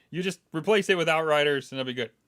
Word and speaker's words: Outriders: Outriders. God bless. I just noticed it as well. I thought it was Outsiders, but then I clicked